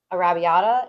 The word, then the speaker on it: Arrabbiata: This is Rayo's Arrabbiata. It's their like spicy marinara. It's really good. It's fantastic pronunciation, love.